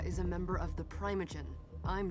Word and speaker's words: primogen: So you'd be confused at this point if you didn't know what a primogen is, or sorry, primogen as they pronounce it, and a harpy is.